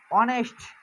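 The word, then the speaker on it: honest: কিন্তু দেখো উচ্চারণটা হচ্ছে কিসের মতো, ও অথবা অ এর মতো, ভাওয়েলের মতো উচ্চারণ হচ্ছে, সাউন্ড আসতেছে ভাওয়েলের মতো।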